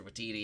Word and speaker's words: Waititi: Waititi himself. I hope I'm pronouncing his.